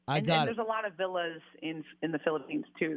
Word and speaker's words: Villa: I really appreciate that is it pronounced joy joy vill Villa Joy Villa okay V like a like a home route there like like a big Italian Villa home oh you're Italian that's